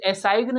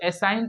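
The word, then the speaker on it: assign: उसी प्रकार इसे एसाइगन नहीं पढ़ेंगे दोस्तों, एसाइन पढ़ेंगे। क्या पढ़ेंगे? एसाइन, क्योंकि यहाँ पे जी साइलेंट है।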